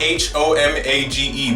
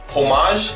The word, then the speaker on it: homage: It's spelled H-O-M-A-G-E, but I can never pronounce it. Homage, except I don't think you pronounce the H.